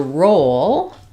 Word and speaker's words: roll: help you and then for roll we have um the O vowel um so I would